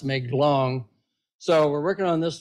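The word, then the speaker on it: Mae Klong: but um it's somebody well anyway it's really pronounced make long so we're working on this drainage in Western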